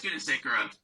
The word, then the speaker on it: Gunasekara: So now I'm delighted and honored to introduce Gunasekara. Did I pronounce that correctly? It's Gunasekara, but that's okay. Okay, my last name is equally as difficult, Holst-Knudsen, No.